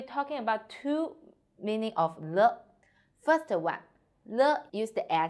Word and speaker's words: 了: 我们一起读 le, e, le, le, light and short.